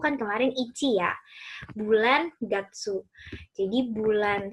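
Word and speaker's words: 月: Kanji ini dibaca gatsu, gatsu, gatsu. Nah ini sebenarnya bacanya nggak cuma gatsu sih, ada banyak, ada suki, ada getsu, tergantung nanti dia bertemunya dengan apa gitu.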